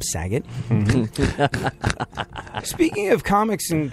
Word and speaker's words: Saget: The most hilarious comedian on the face of the planet whose name rhymes with gay slur, Bob Saget.